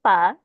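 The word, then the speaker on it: phở: My last silly question is it faux or fa? Tell us Oh, the correct pronunciation because I'm always trying to figure it out. it's pho.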